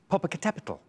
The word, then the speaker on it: Popocatépetl: Right, your first set of 7 answers is Everest, Burj, Fuji, Popocatépetl, or, as I've once heard it pronounced, Popocatépetl.